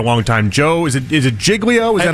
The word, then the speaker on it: Giglio: Joe, is it Giglio? Is that how you say it? I think it's Giglio. Giglio, like Gigli.